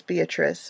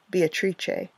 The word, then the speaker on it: Beatrice: classic literature, like Dante's Beatrice or Beatrice. I love the Italian pronunciation of Beatrice.